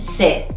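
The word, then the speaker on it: ث: the fifth letter is named se se which is pronounced like seven in english again it's similar to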